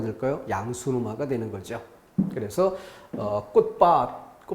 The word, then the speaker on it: 꽃밭: 그래서 꽃밭 디귿으로 발음해야 될 걸 꽃밭 이렇게 비읍으로 발음하는 것도 잘못된 발음이다.